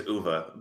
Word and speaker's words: Uwe: To be fair, the proper pronunciation of his name is Uwe, but yeah. Oh, Uwe. Oh, sorry. Sorry, German. You guys are best friends. Learn to pronunciate, my friends. Don't spell your name with a W if you don't want